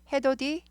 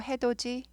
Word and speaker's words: 해돋이: 해돋이 아니고 해돋이, 디귿이 부드럽게 해돋이, 즈 발음 나죠.